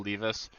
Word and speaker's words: Levis: I'll just bring up will Lis maybe it's will Levis I'll try and iron that out and get you guys updated make sure I start pronouncing that appropriately but RIS he performed